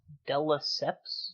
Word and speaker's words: de Lesseps: De Lesseps? De Lesseps. Oh, okay. But it's pronounced de Lesseps.